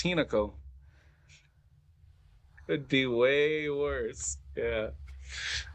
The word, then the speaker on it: Hinako: Why did I not pronounce it right? Hinako? It's Hinako.